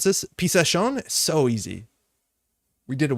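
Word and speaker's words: Pichação: And then there's the card that apparently I was pronouncing really wrong for a long time. So thank you, Ginevra. Pichasson.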